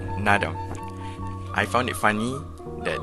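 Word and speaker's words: Naadam: is also pronounced as sport while festivals is pronounced as nadam and is spelled like that in mongolian language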